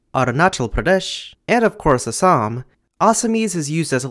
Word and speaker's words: Assam: Assamese is an awesome language in the awesome Indo-Aryan branch of Indo-European, and is spoken primarily in the awesome Indian state of Assam. Wait, what do you mean it's pronounced Assam?